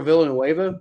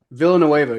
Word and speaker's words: Villanueva: Because Alejandro Villanueva, their other starting tackle, is kind of an up and down player.